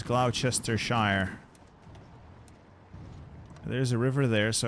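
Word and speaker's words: Gloucestershire: south I know how that's supposed to be pronounced it's Glouchester Shire there's a river there so I need to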